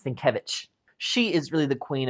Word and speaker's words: Sienkiewicz: I think that's how you say her name, Sienkiewicz. No, it's Sienkiewicz.